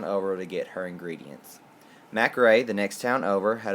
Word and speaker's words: McCrae: Yes, I know it is spelled McCrae, but that's just simply not how you say it.